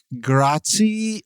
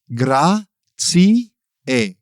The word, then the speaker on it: grazie: Americans often say things like grah-tsee or grah-tsee-ah, but in Italian you pronounce all the vowels like grah-tsee-eh, grah-tsee-eh.